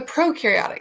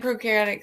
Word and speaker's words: prokaryotic: All right, let's look at the prokaryotic cell. So the pro rhymes with no nucleus.